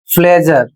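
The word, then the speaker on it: pleasure: तो इसे पढ़ना है। आपको झ पढ़ना है। ज नहीं पढ़ना है। बहुत से लोग इसको ज पढ़ते हैं। जैसे इसका उच्चारण होगा फ्लेजर और इसका अर्थ होता है आनंद।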